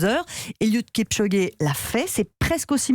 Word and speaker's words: Eliud Kipchoge: Il s'appelle, alors vous me corrigerez sur la prononciation, Eliud Kipchoge.